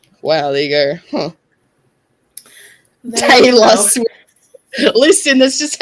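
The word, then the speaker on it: Tayla: Taylor. Taylor? T-A-Y-L-A. Really? What about Taylor Swift? No, that's Taylor. T-A-Y-L-A. Taylor. Well, when you say it like that, it sounds the same.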